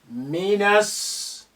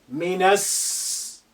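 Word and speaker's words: من السوق: Look at the na here. The alif is silent because it's not at the beginning of a sentence. The lam is silent because of sin is a sun letter which is carrying shadda. So we linked na to, and with the first sin which is hiding there with shadda, minas suq.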